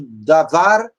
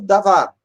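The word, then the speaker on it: דבר: Quando um sufixo é acrescentado a um substantivo, o primeiro passo é tentar reduzir a vogal na sílaba propretônica, até Shevá, que é no caso do davar, vira devarim.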